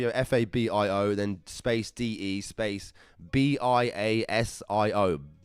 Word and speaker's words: Biasio: Fabio, F-A-B-I-O, then space D-E, space B-I-A-S-I-O. Biasio? Fabio Biasio, I think is the correct terminology.